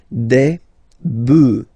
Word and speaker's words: bœufs: previously, so you just add this s, but then pronunciation changes quite much, because you get des bœufs, all right?